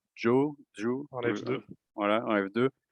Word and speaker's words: Zhou: Et les grands candidats sont, je dirais, Antonio Giovinazzi, Zhou, alors qu'il Oui, faudrait prononcer Zhou, en F2.